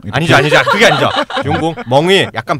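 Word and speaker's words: 中国梦: 중국몽. 아니죠. 그게 아니죠. 중국 멍이 약간 발음 멍 뭐 그런 거야.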